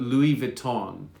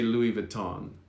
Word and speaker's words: Louis Vuitton: look shabby now i'd this is how english people do it not the french but louis vuitton is how the english pronounce it it's not correct in the french but we say louis vuitton literally thank you sunum